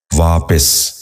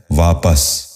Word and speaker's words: واپس: ہیں۔ پہلا لفظ ہے واپس۔ یہ غلط تلفظ ہے، درست تلفظ ہے واپس۔ دوبارہ سنیے، واپس۔ بچوں